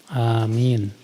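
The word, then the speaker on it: آمين: saat i'tidal dan istiftah pengucapan Amin yang benar adalah Amin a-nya dua harakat A minnya itu bisa sampai en harakat karena A itu mad asli kalau min itu Mad Arid l sukun Iya Mad asli dua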